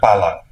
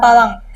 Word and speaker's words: pala: tree clove Chen and Pala Pala this is what they really like it's called Pala not palang Pala Pala Pala Pala sorry